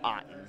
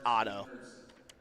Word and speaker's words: Otto: Okay, so I have Otto or Otten. Let me make sure I'm getting it right here. It's Otto.